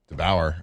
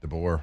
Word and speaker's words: DeBoer: I know there's a lot of, strangely enough, there's rumors for DeBauer over there. DeBoer.